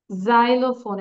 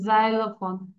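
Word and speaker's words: xylophone: জাইলোফোন, এটার উচ্চারণটা হচ্ছে জাইলোফোন, জাইলোফোন, 3 syllable।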